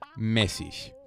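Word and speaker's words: mäßig: and it basically just takes the place of a double s in the cases where it's used so that is pronounced mesis which is similar to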